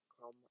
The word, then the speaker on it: comme: And then comme is one syllable. Comme. Yeah, it looks like it could be two. And you're definitely not the first one to make that mistake, but good fixes.